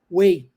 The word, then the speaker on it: weigh: a pronúncia Olha só não se pronuncia o GH Way é assim que a